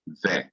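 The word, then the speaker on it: וְ: dot over the other, and pronounced we, or some Hebrews pronounce it ve.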